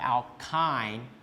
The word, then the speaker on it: alkyne: So this Y pronounced similar to the I here, okay? That's why we call it alkyne. We pronounce it as I, okay?